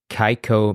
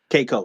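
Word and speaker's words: Keiko: Kaiko Matsui. Kiko. Yeah, Ko. Kiko Msoy.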